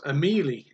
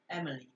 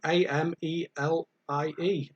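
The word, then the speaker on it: Amélie: 2001 french happy-go-lucky film it was amelie emily no a-m-e-l-i-e amelie if anybody got that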